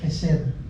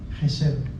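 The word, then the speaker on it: חסד: Testamento dice de misericordia misericordia en hebreo se dice jesed jesed h e s D en la eh Cómo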